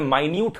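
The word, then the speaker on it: minute: अलग हो सकता है जैसे कि एम आई एन यू टी ई इसका मतलब मिनट हो सकता है लेकिन इसी सेम शब्द को अगर मैं माइन्यूट करके पुकारूंगा तो इसका मतलब कोई छोटी चीज हो सकता है एगजैक्टली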